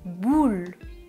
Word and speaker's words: boule: Et ensuite, je recule la langue pour prononcer boule, boule. La langue ne touche pas les dents.